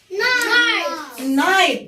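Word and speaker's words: night: نايت.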